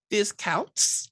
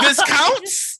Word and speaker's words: Viscounts: Discounts. Oh Yeah! No. Viscounts. Viscounts. Viscounts. There you go. Good job. Viscounts of the West Kingdom. Gates of Gold. So in Viscounts of the West Kingdom, Gates of Gold, people